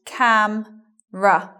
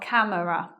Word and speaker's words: camera: have a look so having a look at the word camera after the M elision of schwa not saying it in other words so it becomes cam ruff not camera next word family I